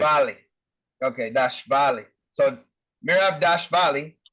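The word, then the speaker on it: Dvalishvili: You don't even say the V. Well, you do, but it's like after the V. It's Dashvali. That's how they say it. Dashvali.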